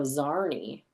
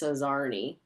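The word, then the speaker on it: czarnie: Um, a midway language that inserts a z sound after the beginning of the word. So, zarnney. Interesting. Is like pig Latin then where it's like as long as you know the trick, you can speak it. Well, it's spelled C Z A R N I E.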